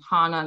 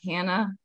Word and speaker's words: Hannah: It's hard in writing, but thank you for the correction, because I am Hannah, not Hannah. I would say it rhymes with Donna, not banana, unless you're British, and then it's a whole other thing.